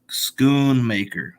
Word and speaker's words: Schoonmaker: Stevo just said that the name of Luke's uh pronounced last name is Schoonmaker schoon maker I guess um I